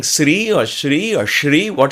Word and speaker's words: Sri: a person says okay say sri not shri because in sanskrit sir that is sure that is sure there are so many variations so simply saying sri or shri or shri